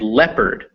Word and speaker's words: leopard: In people, where it is pronounced E, and leopard, where it is pronounced eh.